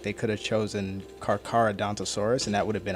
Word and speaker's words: Carcharodontosaurus: It's just some people mispronounce it. It's Carcharodontosaurus.